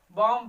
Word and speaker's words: bomb: अगर किसी वर्ड में बी यम के बाद आता है तो वहां बी साइलेंट होता है, क्या होता है, बी साइलेंट होता है।